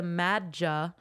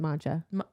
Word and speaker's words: Madja: I think in the books they pronounce it Madja.